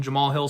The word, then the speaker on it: Jamal Hill: sorry i keep saying i keep pronouncing the h in there my bad so i lean to john anik the man who knows his pronunciations i thought it was pronounced jama hall hill however anak is the one who's the expert on this and he calls him jamal hill so we're gonna roll